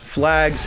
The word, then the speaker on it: FLXGS: I'm pretty sure their username is pronounced Flags, FLXGS.